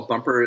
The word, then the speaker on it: Bumpr: it yes it's um so first of all bumper is spelled without the e it's b-u-m-p-r and the